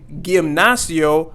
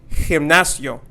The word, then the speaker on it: gimnasio: As you can see here, the G sound makes that H sound and not the G sound. So we're not going to say gimnasio, but we are going to say gimnasio.